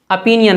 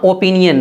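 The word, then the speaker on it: opinion: इसी तरह अपिनियन पढ़ना, ओपिनियन नहीं।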